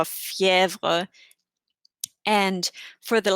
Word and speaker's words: fièvre: If you have it on the letter E, it changes its pronunciation to like E. For example, crème, crème. It's like an EH sound almost, or fièvre.